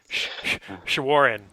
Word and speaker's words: Shawaryn: Shawaryn.